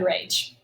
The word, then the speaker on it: rage: Okay, but let's go back up here and code rage. We have a vowel of another vowel. Ooh, that E is silent, but it makes the G say J, rainbow J, and the A long.